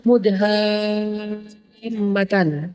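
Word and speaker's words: مدهامتان: Bacanya juga harus panjang karena dia rimbun banget. Sehingga bacanya Mudhammatan.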